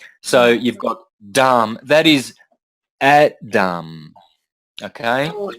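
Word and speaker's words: dhama: you don't pronounce the you don't pronounce the last a so you've got Dam that is Adam okay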